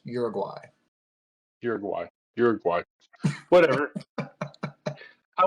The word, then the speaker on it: Uruguay: South Americans listening to this podcast uh it's pronounced Uruguay you're you're gu whatever I went to North